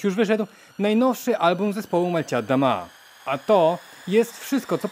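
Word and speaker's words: Молчат Дома: Malcia Adama, bo tak wymawia się nazwa tego zespołu, jest białoruskim, postpunkowym, synfowym zespołem tworzącym muzykę w języku rosyjskim. Malcia Adama właśnie w takiej wymowie oznacza milczą domy.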